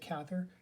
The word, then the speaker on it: Cather: or willa cather i'm told that it's actually pronounced cather but i learned it cather so i'm going to say cather so willa